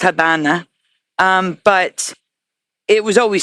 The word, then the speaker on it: Habana: The locals would pronounce the V a B because in Spanish it's pronounced Habana.